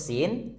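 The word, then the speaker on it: س: Tsu at its UT terus saat nyebut huruf Sin dekatkan ujung lidah kita ke atas gigi seri bawah S sa si su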